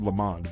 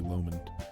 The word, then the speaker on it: Lomond: you pronounce it um I've always said lamond but I think it might be Lomond um and they were